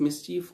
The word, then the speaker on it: mischief: We also use the word mischief as well, which is often pronounced incorrectly as well. But it is mischief or mischievous.